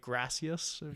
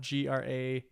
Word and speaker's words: gracias: So like to say the word like gracias in the gringo context, it would be, since it's spelled GRACIAS.